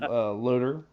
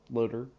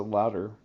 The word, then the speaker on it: Loader: Rob, the famous Robert Loader. I found out how to pronounce his name right this time, Loader. I always pronounce it louder. Apparently, what I was told is no W, so it's loader.